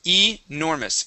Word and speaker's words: enormous: uhhuh enormous okay good pronounce that e at the beginning enormous enormous ah okay enormous